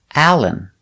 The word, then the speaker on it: Allen: for some names example allen you can spell allen with a-l-l-e-n or a-l-a-n it's the same pronunciation example alan iverson he's